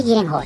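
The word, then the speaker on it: Gyllenhaal: Embora seu nome seja pronunciado Maggie Lenhall em inglês , hoje usarei Gillehall, como é escrito no Japão.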